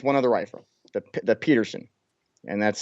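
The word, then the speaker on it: Pedersen: of the rifle that Peterson and that's spelled with a D but it's pronounced like the T in trials it handily defeated it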